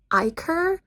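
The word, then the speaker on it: ichor: It's definitely pronounced Iicor or Iiker.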